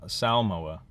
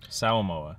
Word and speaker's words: Samoa: I already mispronounced s they kept saying s Samoa sa MOA white people say Samoa but that's not necessarily true or correct um just just hit